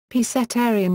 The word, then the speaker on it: pescetarian: The Italian word is pronounced, while the English neologism is commonly /pescetarian/ with a /sk/ sound, thus differing from pronunciations of similar terms in English and Italian.